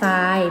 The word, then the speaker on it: ทราย: กล้ำ แท้ ค่ะ และ ทราย เป็น คำ พบ กับ ไม่ แท้ เพราะ ขึ้น ต้น ด้วย ต่อ ทหาร ร เรือ ออก เสียง ซอ โซโล นั่น เอง ค่ะ ก็